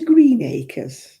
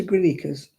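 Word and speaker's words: Greenacres: You are going to Green Acres. No, I'm not. I'm going to Grin Acres.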